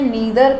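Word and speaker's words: neither: इसको मैंने नीदर pronounce किया है, आप इसको नाइदर भी बोल सकते हैं, बोथ आर करेक्ट, बट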